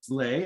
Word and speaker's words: Le: My name is Lay, and it spells L-E, but pronounced Lay, as in legitimately your best friend in this journey.